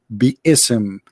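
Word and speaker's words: بسم: Even they agree, all the sheikhs agree that the word is not bism, it is bi-ism.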